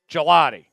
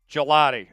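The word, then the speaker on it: Gillotte: All right, you found it. Gelotti. Gelotti. Okay, so Tom was right and the NFL got him wrong. How embarrassing. The NFL doesn't pronounce his name right and his name being called Gelotti.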